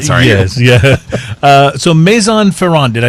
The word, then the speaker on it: Maison Ferrand: Maison Ferraro sorry not sorry yes yeah so Maison Ferran did I say it correctly yes I'm Ferran